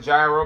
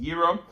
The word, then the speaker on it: gyro: A lot of people call it gyro, but it's pronounced gyro.